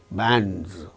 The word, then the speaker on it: bands: In the case of the word bands, B, only one consonant sound before A, bands. After A, we find N, D and Z, bands, because D is a voiced sound and the plural marker is pronounced as Z, bands.